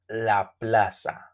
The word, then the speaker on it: plaza: as you can see the Z it's called or its pronunciated as as s in Spanish okay La Plaza smoothly not like Z La Plaza no La Plaza smoothly the park the park